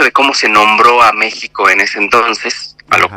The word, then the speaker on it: México: tú lo lees se se lee Como México no pero en realidad es México o por ejemplo Xochimilco